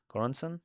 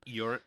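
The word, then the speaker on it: Göransson: Um Ludvig, uh I don't really know how to pronounce his last name, but Gor Gorasen. Goransen. Yuren.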